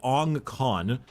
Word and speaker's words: Ong Khan: So he was found by Ong Khan. That's a really hard thing to pronounce.